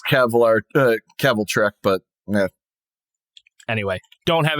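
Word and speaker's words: Kvelertak: So yeah, I don't know enough about Kevlar Tack. That is not how it is, but interesting. I've always pronounced it as Keveltrek, but yeah.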